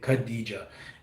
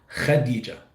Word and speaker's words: Khadija: Like for example, um, we have let's say if a name Khadija here in the US or in English we'll say Khadija, the K and H. but in Arabic it's actually pronounced as, wait for it, let me clear it all up, Khadija. So there's a kh, that's almost like kind of you getting ready to spit.